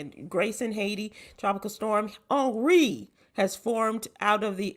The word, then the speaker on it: Henri: How you pronounce it, Sybil? Just in case. Well, it's Henry. Henri. It's Henri.